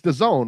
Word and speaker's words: DAZN: It's DAZN, right? That's correct. Yep, that's the proper pronunciation.